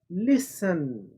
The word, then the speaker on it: listen: ये देखिए सुनना, लिसन, LISTEN। टी यहाँ पर साइलेंट है यानी खामोश है, इसकी आवाज़ नहीं है।